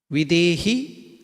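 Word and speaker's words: विदेहि: Just if you pronounce it as deha or dehi without mahaprana, ordinary, then it becomes deha is body. Dehi is one who possesses the body. This is Dehi, Videhi, Dehi.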